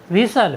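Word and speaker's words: whistle: है डब्लू एच आई एस टी एल ई विसल विसल मीस होता है सीटी साथियों यहां पर भी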